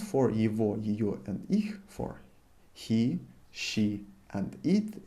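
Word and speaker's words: его: some point you will pronounce the way i'm pronouncing this so evo and well the possessive person will pronounce for evo for he she and it they would be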